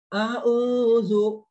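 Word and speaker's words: أَعُوذُ: A'udzu, panjang ya.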